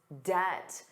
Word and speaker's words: debt: But he has to manage his debt. the total amount of money he owes. And notice that pronunciation. Did you notice the B was silent?